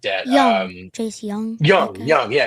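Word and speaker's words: Jung: Young. Chase Young. Young. Yeah, it looks like June. It's spelled weird. But yeah, Young, him.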